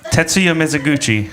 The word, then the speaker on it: Tetsuya Mizuguchi: Tetsuya Mizuguchi.